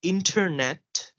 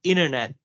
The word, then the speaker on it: internet: So here it says that the T after an N is often silent in American pronunciation, Mhm. which means that instead of saying internet, Americans will frequently say internet, Right. internet, Uh huh.